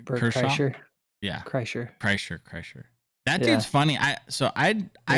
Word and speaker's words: Kreischer: Burt Kren, how do you pronounce his last name? Bert Kershaw? Kreischer? Yeah, Kreischer.